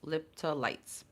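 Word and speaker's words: lepidolite: It has um lipiditoolytes lipolytes or lipiditoolytes. No it's lipytes that's how you pronounce it is a crystal um that is for balance for harmony.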